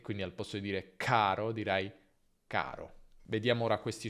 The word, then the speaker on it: caro: In italiano però non c'è aspirazione, quindi non diciamo caro, ma caro.